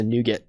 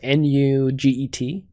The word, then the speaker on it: NuGet: So Alyssa was asking what exactly is a NuGet. So it's spelled N-U-G-E-T. You can see it actually up here, right there. So it's NuGet.